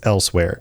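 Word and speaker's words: Elsweyr: Well, Elsewhere has kind of a unique spelling for something that you pronounce as elsewhere, and they kept it.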